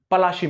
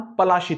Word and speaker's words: पलासी: बीच स्थित एक शहर पलासी में होती है इस शहर का नाम पलासी था मगर अंग्रेज इसे ठीक से प्रोनाउंस नहीं कर पाते थे लिहाजा वो इसे प्लासी कहा करते लोग प्लासी के नाम